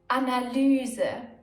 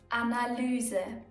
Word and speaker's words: Analyse: Analyse, Analyse. Easy, right? In the middle of a word, it's ü, and at the end of a word, it's e.